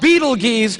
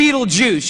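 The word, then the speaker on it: Betelgeuse: heard about this star it's called Beetle geese or be Beetle Juice you can pick your pronunciation I'm obviously going with Beetle Juice and Beetle Juice is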